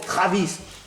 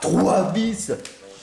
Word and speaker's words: Travis: pas salut trois VI on prononce Travis pas trois VI en tout cas pas